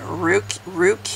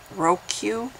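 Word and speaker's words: Rheque: I mean, somebody pointed out, in fact, I'm looking at the comment, Johnny Ruque, well, it's spelled R-H-E-Q-U-E, Roque, wrote, "Isn't Kim Davis in like every other People of Walmart video?"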